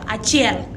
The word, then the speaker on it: achiel: Now, when you look at all the three ways of saying Achiel, their pronunciation are all the same, but they just have different spelling.